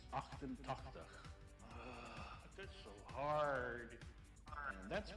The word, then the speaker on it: achtentachtig: Yeah, Achtentetchtig. No, actually it's Achtentachtig.